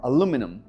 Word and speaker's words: aluminum: Você pode falar aluminium or aluminum.